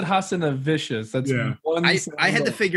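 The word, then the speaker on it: Hazanavicius: Hassanavicius, and I thought you were going to say Scott Close.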